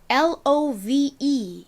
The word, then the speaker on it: love: 브로 발음을 하셔도 괜찮습니다 끝에 2가 왔는데 2가 이렇게 끝에 왔을 때에는 별다른 소리가 나지 않는다라고 말씀드렸었죠 자 그래서이 단어를 읽어보면 love가 됩니다 사랑은 영어로 따라해 보실게요 love